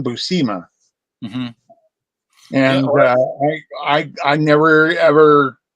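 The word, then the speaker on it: Buscema: Busa and and he that's how he would pronounce it was John Busa and I I never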